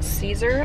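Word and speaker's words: Cesare: in a cornfield by adam caesar apparently is how you say his last name according to the narrator last night i got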